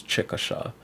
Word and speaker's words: Chickasha: So the right way depends who you are in your habitat, but the proper pronunciation is Chickasha.